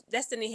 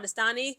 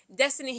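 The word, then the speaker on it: Destanni: Okay, we saw this Destiny Henderson. I'm sorry, I want to call her Destany, the way that her name is spelled. Destiny Henderson.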